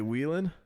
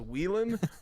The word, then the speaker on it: Whelen: it's this series that spelled whe le n you know the open wheel kind of like go kart looking all the modified the Whalen Whelen Modified Sweetland okay you say Whelan yeah okay that's how I say it we were in a